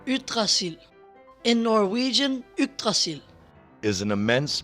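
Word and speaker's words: Yggdrasil: disclaimer or as my danish son who can actually pronounce it calls it utracil in norwegian is an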